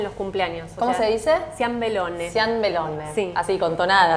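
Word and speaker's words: ciambellone: Ciambelone.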